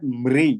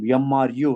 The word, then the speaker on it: मृत्यु: Here, mrityu means someone say that mri, MRI kind of pronunciation. Someone is MRU pronunciation. Which one is the right one? MRU, right? Like a mrityu.